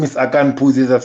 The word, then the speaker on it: Akani Phuzi: So my name is Akani Phuzi. I was gonna Akani.